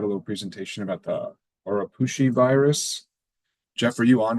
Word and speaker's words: Oropouche: Oropouche is probably the closest way to properly pronounce it based on the Arawak language.